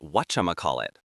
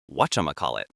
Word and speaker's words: whatchamacallit: A really popular one in American English is whatchamacallit. This is a long word, but it's actually a phrase smashed together. It comes from the phrase what you may call it, but we say it fast. Whatchamacallit.